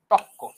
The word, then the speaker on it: তর্ক: পরবর্তী ব্যঞ্জন দীপ্ত হয় যেমন তর্ক দেখো এখানে তর্কর উচ্চারণ ত র ক এইটাকে আমরা কি লিখছি আমরা র টা বাদ দিয়ে দিচ্ছি এবং পরেরটা ডাবল করছি তক্ক আধুনিক চরিত্র বাংলায় অনেক